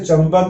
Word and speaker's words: चंपक: हम देख सकते हैं जैसे चंपक में प के पहले बिंदी आई है, इम्फाल में फ के पहले बिंदी आई है और ये सब म का उच्चारण कर रही है।